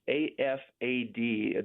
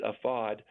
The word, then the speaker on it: AFAD: met with an organization that's afad they pronounce it afod and that's their version